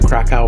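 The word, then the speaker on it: Kraków: It looks like Krakow, but it's actually Krakow the way that it's pronounced.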